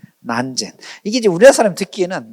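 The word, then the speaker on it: 南泉: 어 근데 저 마조 스님의 제자 중에 저 남전 스님을 중국에서는 저 남전을 한문으로 저렇게 쓰고 발음을 난젠이라고 발음해. 난젠 난젠 이게 이제 우리나라 사람이 듣기에는 난젠 난젠 난젠 남잔 남잔 이렇게 돼 있다고 이제 하는 거죠.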